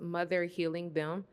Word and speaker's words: Mother Helium: Okay, so this piece is called Mother Helium, and it's pronounced Mother Healing Them.